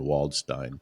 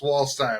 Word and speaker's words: Waldstein: It's Walstein. I'm German, not Jewish.